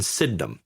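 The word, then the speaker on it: Sydenham: eventually wind up in Sidnum. Syndum. Sidum. It's it's it's said Sidnum, but it's spelled Sidenheim, basically.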